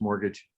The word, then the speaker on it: mortgage: means paying your mort, mortgage, Yeah, you don't pronounce the mortgage, T. It's just mortgage.